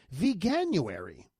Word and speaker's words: Veganuary: Well, there's a new global campaign and it's called Vanuary. And it's a hard G.